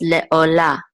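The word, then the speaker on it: לְעֹלָה: This is as, and this ayin with a cholem says o, and this is a lamed with a kamatz, which says la, and the hay is silent.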